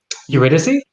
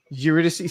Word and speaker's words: Eurydice: Hey, first things first, dude, I always say that name wrong. Eurydice? Eurydice.